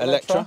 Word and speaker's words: Eletre: So the Lotus Eletre? Eletre. Is that how you pronounce it? Eletre, yeah. Okay.